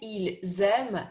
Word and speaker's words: ils aiment: И здесь во множественном числе везде «s» начинает читаться как «z», идет связка. Nous aimons, vous aimez, ils aiment, elles aiment.